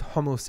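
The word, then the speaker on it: חומוס: sake of this video most Israelis were pronounced it was a Godzilla cat sound so there's hummus which is the first homos is a chickpea spread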